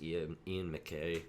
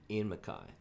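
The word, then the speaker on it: Ian MacKaye: through most of my life thinking it was ian mckay don't think it matters how you say his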